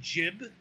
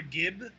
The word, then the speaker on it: gib: you over kill enemies they jib or Gib you know depending on your G pronunciation you know they explode